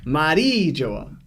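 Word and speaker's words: Mary Geoise: the Google Translate and Google Translate says the name and it's Mari Joa. That's how it's actually pronounced with the actual Mari Joa.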